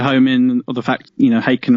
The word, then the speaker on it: Haken: And we wanted to home in on the fact, Haken rhymes with bacon.